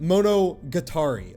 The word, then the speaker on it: Monogatari: He called it monogatari like the atari.